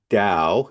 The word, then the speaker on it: Tao: So So actually just to reassure audience Dao is the name of the tradition and when you see it spelled t a o, you're still supposed to pronounce it with a d sound.